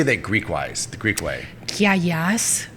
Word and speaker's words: Kiagas: Giagas, which sounds like no, with a K.